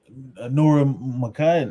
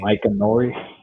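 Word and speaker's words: Micah Nori: Oh, Nora Makai. I forgot it. I can't pronounce his name. Mike Nori.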